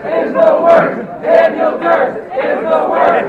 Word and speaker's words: Duerst: Daniel Durst is the worst. Hey, how do you spell that? DUERST. Just remember Durst is the worst.